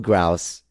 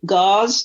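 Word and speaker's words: Gause: I actually Googled Grouse to find out where it is. That how you say it? Talking about Gauze?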